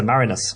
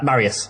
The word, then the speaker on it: Marius: who belongs to a professor marinus Marius sorry oh really Marius yeah okay does he